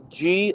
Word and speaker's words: Ghee: G, but it's spelled like GHEE.